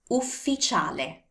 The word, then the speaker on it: ufficiale: Ufficiale. U, F, F, I, C, I, A, L, E. Ufficiale. See? It's not official, it's ufficiale.